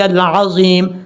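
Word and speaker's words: العظيم: بھی پڑھتے ہیں تو پھر بھی سبحان ربی العظیم، سبحان ربی العظیم، اس طریقے سے تلفظ کا خاص خیال رکھنا ہے آپ نے۔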